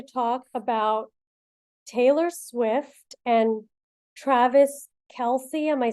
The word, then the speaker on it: Travis Kelce: I'm with Ditz, and we're going to talk about Taylor Swift and Travis Kelce.